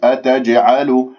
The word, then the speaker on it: أتجعلوا: قالوا ضم الشفاه في الواو، قالوا أتجعلوا أتجعلوا، انتبهوا لهذه الجيم المقلقلة قلقلة صغرى، ليش؟ لأنها في وسط الكلام، إذا شوية مسكت الجيم راح هنا ما تصير قلقلة، فتقول أتجعلوا، هذا غلط، يجب أن تضرب المخرج مخرج الجيم بسرعة وتهرب أي اضطراف المخرج، أتجعلوا هكذا، بارك الله فيكم.